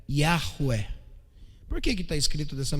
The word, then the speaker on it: Yahweh: ele é chamado de, alguns leem Yahvé, né, se fosse traduzido para o português de forma seca, mas a pronúncia seria Yahweh.